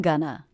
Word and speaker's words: gonna: The first syllable is stressed, gun, and the second syllable unstressed, Gonna.